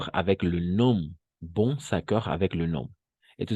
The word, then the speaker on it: bon: Aquí hay mucha diferencia en pronunciar este bon. Este es un bon. D'accord. Bon. Este es un bon. Bon. Cerrado. Bon. Y este va a ser ya bonne. Bonne. Abierto.